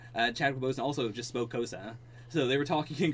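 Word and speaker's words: Xhosa: It is Kosa, but the k is a click sounds. Okay. It is a I can't do it. Yeah, I'm not even gonna try. Yeah, it's like a Kosa.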